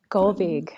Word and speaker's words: Gullveig: Can you pronounce it? Gullveig.